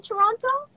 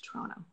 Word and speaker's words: Toronto: So were you born in Toronto? Toronto, that's how I pronounce it. Not Toronto, but Toronto.